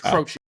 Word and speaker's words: Croce: I had to get pronunciation. It's Croce.